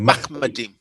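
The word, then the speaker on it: מחמדים: It's actually, and as I say, it's actually Machmadim.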